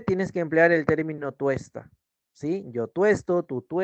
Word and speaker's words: tuesta: sí solo en presente no se dice tosta se dice tuesta o tuesto por ejemplo yo tú